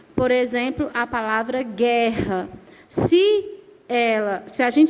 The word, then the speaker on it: guerra: só vai ser dígrafo quando você fala palavra e você não pronuncia a letra U por exemplo a palavra guerra a palavra guirlanda guitarra